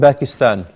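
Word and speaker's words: باكستان: أنا من Pakistan. أنا من Pakistan. In the Arabic language, you don't have the P, so it's a B.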